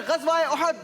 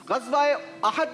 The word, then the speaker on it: उहद: ग़ज़वा बदर, ग़ज़वा उहद, जवाब बिल्कुल दुरुस्त दिया है। ग़ज़वा अहद नहीं होता, ग़ज़वा उहद होता है।